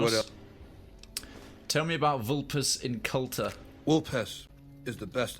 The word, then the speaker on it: Vulpes: In all these things, Vulpes is a master. Oh, he pronounces the Latin V correctly. He pronounces it as W, which is good.